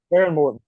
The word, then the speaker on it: Behren Morton: they had to turn to their backup it's Behren Morton, correct, Don? Behren Morton, correct. Yeah. Yep. Just want to make sure I pronounce that right.